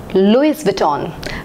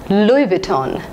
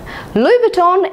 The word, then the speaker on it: Louis Vuitton: in the list is Louie Vuitton Louis Vuitton I have always pronounced it as Louis Vuitton but I was wrong this should be pronounced as Louie Vuitton Louie Vuitton is a French brand